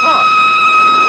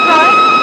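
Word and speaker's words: Froy: My name's Troy. You said Florence? No, not Indeed. Troy. I'm sorry, I can't hear. It rhymes with joy.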